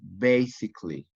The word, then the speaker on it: basically: basic two syllables but basically three syllables not for you said basically a bit basically you